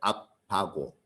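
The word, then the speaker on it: אבא: 소리입니다 그 아빠가 근 그 아람어는 정확히 발음하면 아바고 근데 재밌는 것은 우리나라 아빠하고 발음이 그러다 보니까 거의 같죠 아빠 이렇게 근데 왜 우리가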